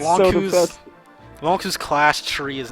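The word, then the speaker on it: Lon'qu: In America, his name's Lonku, because that's how it's pronounced in Japanese.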